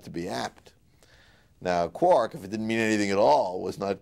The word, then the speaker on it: quark: it to be pronounced Quark because it goes with bark and Hark and Mark and so on but um but I